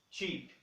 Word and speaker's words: cheap: Qual que é a pronúncia correta dela? É cheap, cheap. Esse CH no inglês, ele tem um P na frente para nós, tá? E esse EA, ele vai ter um som de I.